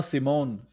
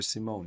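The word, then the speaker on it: S1m0ne: like I don't know if it was like pronounced S1 M1 or Simone yeah yeah s-i-m-o-n-e but yeah the whole concept in the movie that's like S1 like Sim one or something like that some uh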